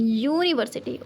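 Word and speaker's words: university: यूनिवर्सिटी, यहाँ पे इट is making Y consonant sound, यूनिवर्सिटी वाई है तो हमारा क्या होगा, ओ यूनिवर्सिटी।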